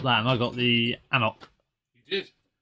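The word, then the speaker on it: anCnoc: and I got the anoc you did which is spelled differently to how it's um said as well ank KN yes not ancock which I used to get really badly wrong another tangent shopped yes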